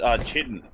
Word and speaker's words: chitin: Like, I also thought that was pronounced chitin. That's right. Chitin, chitin, I've heard it pronounced both, so whichever one you prefer.